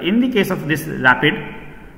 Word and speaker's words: RAPD: So it is random amplification of polymorphic DNA, rapid or pronounced rapid.